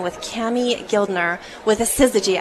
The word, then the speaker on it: Syzygy: I've got the pleasure of chatting with Kami Guildner with a Syzygy. I said it. You said it right.